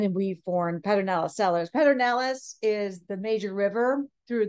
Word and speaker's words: Pedernales: lyndon baines johnson decided to call it the purred analysis and so most people now pronounce it that part of the analysis as opposed to the paternalis uh anyway pedernales means flintstone in spanish uh